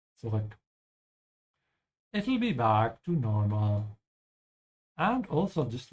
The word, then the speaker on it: normal: Yeah, thank you, Jordan, who is a native English speaker and pronouncing the A perfectly here. So make sure to pronounce it like he did. Normal with an open A.